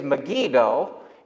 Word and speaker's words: Megiddo: university of south florida it is megiddo and in hebrew it would be called har megiddo harmegido and if you butcher the translation enough it goes from har to arm and megiddo goes to mcgee don and you get armageddon so they could not